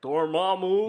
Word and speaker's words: Dormammu: He's Dormammu. Dormammu, yeah. Dormammu. Yeah, you have to say it like Benedict.